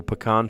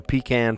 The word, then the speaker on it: pecan: Um, sort of like a like a pecan pie or pecan pie, depending on how you say it.